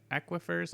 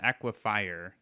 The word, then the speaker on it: aquifer: infested aquifers what aquifers aquifers i can't never remember how to pronounce that but it's because it's not equifier which is what kind of naturally you might want to say but i guess i'll